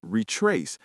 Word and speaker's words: retrace: The word retrace has the stress on the second syllable. Retrace. Let's retrace.